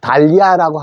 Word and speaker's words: dahlia: 앞서 말씀 드렸듯이 이 'H ' 는 묵음 이고 ' 아 ' 로 읽어야 합니다 .